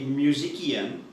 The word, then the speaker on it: musician: that other house okay so move number three m-u-s-i-c-i-a-n some of you will say musician but it's pronounced musician what is a musician a musician